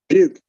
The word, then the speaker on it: Buick: I always said Buki, but that was wrong. Wasn't it like Buick? Buke. It's just regular, just Buke.